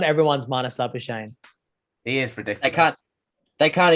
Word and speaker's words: Labuschagne: It was Labuchane. Labuschagne. Labuchane. Yeah, I think it's Labuschagne. no, that's he's from South Africa, so it's actually pronounced Labuschagne.